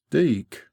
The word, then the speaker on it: dyke: the entrance of the dyke locally pronounced deak by the way speaking